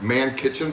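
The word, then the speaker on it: Mannkitchen: stuff over things but it is spelled m-a-n-n -k-i-t-c-h-e-n so like man kitchen but with two ends m-a-n-n kitchen um I don't I haven't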